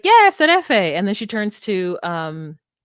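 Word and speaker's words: şerefe: And he's like, seraphim. That's not how you say it, but it's like S with a little thing at the bottom, the accent at the bottom of the S, and Erefe. Serefe, maybe.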